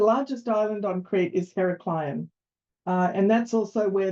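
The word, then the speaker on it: Heraklion: one and it's pronounced heracleion so the largest island on creep is herac Clon uh and that's also where the airport is um it's not spelled as it sounds um it's actually spelled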